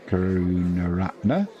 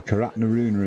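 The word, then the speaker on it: Karunaratne: in behind it there karuna Ratner or karat nuner as I was calling him yesterday occasionally oh dear Jimmy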